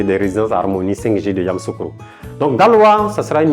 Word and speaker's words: Yamoussoukro: Et donc après Daloa, nous allons dans la capitale politique de la Côte d'Ivoire, Yamoussoukro. Voilà comment ça s'écrit, Yamoussoukro. Alors on dit Yamoussoukro, mais c'est Yamoussoukro.